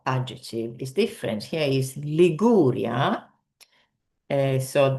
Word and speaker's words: Liguria: Here is Liguria. So the stress is here on the second syllable.